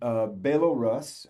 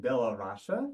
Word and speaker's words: Belarus: Yeah, actually, it used to be in Soviet time Belorusse. Belarus. Now it's Belarus. Belarus. Okay. Republic of Belarus. Republic of Belarus.